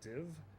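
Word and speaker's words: Dive: Actually, if you like factoring numbers in your head over and over again, this is a game called Div. It's spelled D-I-V-E because it's pretentious.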